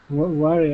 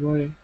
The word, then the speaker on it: worry: So the difference is worry and very. Worry and very. It's the pronunciation, so it's your W and your V.